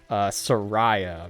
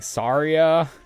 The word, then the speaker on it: Saria: Yeah, my entire family always called her Soraya, but when I heard the correct pronunciation of her name being Saria, I still hate the